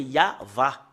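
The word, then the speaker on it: יהוה: on fait un recoupement comment on lit le Yod va c'est c'est vraiment très très clair c'est c'est comme ça qu'on le lit euh depuis ici jusque là c'est yava voilà voilà le yava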